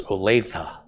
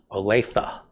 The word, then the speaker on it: Olathe: Richard says it's Olathe. Olathe. Olathe.